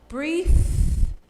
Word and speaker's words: breathe: Breathe is the pronunciation.